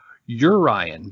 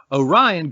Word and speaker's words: Orion: that the boy's father named him yo Ryan because of his crude origins but but this pronunciation has fallen from usage Orion grew quickly into gigantic